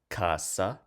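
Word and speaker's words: casa: second to last syllable so Kasa because it ends with a vowel the stress Falls from second to last and it does so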